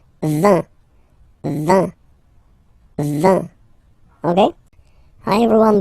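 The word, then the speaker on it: vingt: And the last one, so this G letter is here, but you don't pronounce it, okay? And then final T doesn't exist phonetically either, so basically you will only need to pronounce these three letters.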